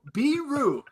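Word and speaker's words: Biro: BEE-ROO, Biru, not beer.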